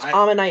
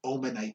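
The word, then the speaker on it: Omanyte: almost i know yeah most people i know say ammonite and omastar i say ammonite i say yeah ammonite and amistar because then it keeps it the same some people do omanite and omastar i don't like omanite i do ammonite yeah omastar yeah i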